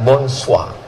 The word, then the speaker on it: bonsoir: beda sama cara membaca tulisannya bonsoir cara bacanya bonswa Selamat pagi Bonjour cara bacanya